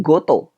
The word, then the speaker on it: 事: yang pakai ini ya cara baca kunyomi tapi dia berubah menjadi dari kota berubah jadi goto ini yang sering kepake